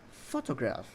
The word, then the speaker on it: photograph: Pertama ada kata photograph. Nah, dalam kata photograph ini yang di stress itu adalah di awal kata atau kalimat. Jadi syllable pertama lah yang harus di stress.